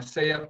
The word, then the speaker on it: SSEAYP: Pero ito nga yung nabanggit mo, it's a culture exchange program yung SEAP ng SSEAYP, no? SEAP ang pronunciation nun.